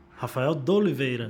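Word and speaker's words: Raphael D'Oliveira: Eu tô com o Rafael de Oliveira. Tudo bem? Como vai? Tá certa a pronúncia ou não? Rafael de Oliveira. De Oliveira. É bem o português. É bem português.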